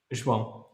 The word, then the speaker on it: João: So what is the proper pronunciation? João.